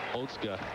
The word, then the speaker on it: Otsuka: It does not appear to be Otska. No, the spelling, you would think it would be Osuka. Yeah. But it's Otska.